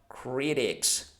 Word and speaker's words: critics: Critics, again, when we have a T sound between two vowels, it becomes critics. So not critics, but critics. It's softer, okay?